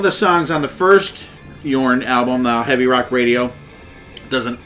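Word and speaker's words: Jorn: here and there the band called yarn and it's spelled Jo RN and they had an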